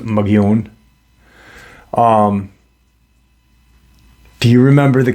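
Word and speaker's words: Mogollon: know um why what and the it's actually pronounced um mogione but the Caucasian pronounce it MOG gallon it's m-o-g-o-l-l-o-n but it's pronounced magion um do you remember the cave paintings in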